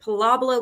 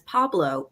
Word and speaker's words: Pablo: But she corrected me later and she said, "Mommy, his name is Pablo. I've been saying it wrong all the time."